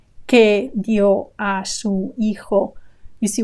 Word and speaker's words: dio: Again, a diphthong where in dio, I-O, they form a diphthong, two vowels together. Dio with a stress on the O. So the I is very short. It's just an I sound, very short.